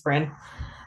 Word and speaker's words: Brynn: Please go ahead and please correct me if I'm pronouncing your name wrong. No, you got it. Thank you. This is Bren.